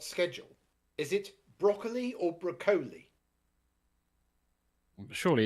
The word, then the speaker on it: Broccoli: Albert R broccoli but I found out it's broli even though it's spelled broccoli it's broli so it was like for years I was oh Albert broccoli no broli pronunciation is